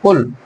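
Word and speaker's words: قُل: এই কলা ভার্বের একটি ইম্পারেটিভ ফর্ম হচ্ছে কুল, মানে আদেশমূলক শব্দ। Imperative form. কুল অর্থ হচ্ছে তুমি বলো, তুমি বলো। এখানে একটা বিষয় আমাদেরকে জানতে হবে, কুলটা উচ্চারণ হবে কুল, বড় কাছের উচ্চারণ।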